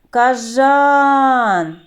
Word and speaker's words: кажан: друкуємо дітки давайте визначимо на який склад падає наголос кажан на другий склад хлопчики і дівчатка а